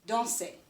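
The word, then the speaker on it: dansé: And now it's going to be pronounced danser. If you remember, it sounds just like the infinitive.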